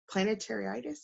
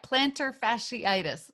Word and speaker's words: plantar fasciitis: What other areas of intermittent fasting did you talked about the planetariitis? I'm probably shouldn't be Oh yeah, plantar fasciitis.